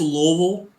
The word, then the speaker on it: Louisville: And remember, quiz, it's Louisville. You don't like pronounc I've been there, so I should know better, right? Lugie in the back of your mouth.